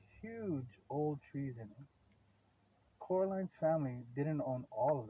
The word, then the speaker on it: Coraline: met her you see Caroline Miss said getting Caroline getting oh okay okay okay I get it she call her Caroline but it's actually Coraline okay so she got her name wrong so she's explaining both